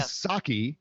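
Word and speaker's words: Psaki: kind of serving members the p is silent is it really thanos yeah it's silent it's silent okay okay so jen saki also my favorite beverage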